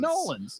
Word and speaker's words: New Orleans: In Nolans.